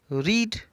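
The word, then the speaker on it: read: रीड रीड अब देखिए spelling से होता है लेकिन जो प्रनंसीएशन होता है उसका डिफरेंट हो जाता है रीड पढ़ते हैं सेकंड फॉर्म को रेड पढ़ते हैं और थर्ड फॉर्म को भी हम रेट पढ़ते हैं तो रीड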